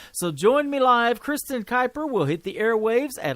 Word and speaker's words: Kuiper: on triple play Thursday her name is Kristen Kuiper it is spelled a little bit different it is K